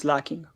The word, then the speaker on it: Slaking: you're talking about pronunciation I go is slacking because of slack you know I think